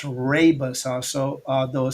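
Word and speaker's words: Rooibos: Now uh it's again pronounced rabbus also although it sounds like it looks like it sounds rubboy um but this rabus tea it contains powerful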